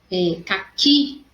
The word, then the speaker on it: caqui: Então, caqui, a sílaba mais forte é o K, recebe acento, porque o final aí da minha paroxítona é terminado em I.